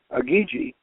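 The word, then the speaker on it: Igigi: Now they had a lesser group of gods called the Agigi, and the Agigi, and we figured out it's spelled IGI with two G's, and we checked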